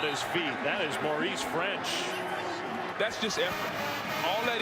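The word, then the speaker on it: Ffrench: He's got an extra F in his last name. It's French with 2 Fs. Maybe fortitude. Does that still sound the same? It does. You still pronounce it French.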